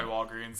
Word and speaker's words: Walgreens: way I grew up my family called Walgreens like water I know it's spelled greens like we just always called it Walgreens and so when I